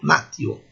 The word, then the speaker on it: natio: Natio, a letra T, mesmo seguida de I, é o som T mesmo, no clássico, natio.